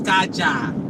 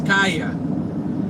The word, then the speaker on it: Karjaa: Kaja is in English is Kaja. In Finnish is Kaya. It's spelled Karjaa.